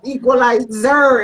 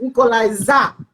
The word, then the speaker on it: Equaliza: It's spelled with EQUALIZA, not the ZER, because you know that I want short. Yeah. It's not Equalizer, it's Equalizer. Yeah, So I don't know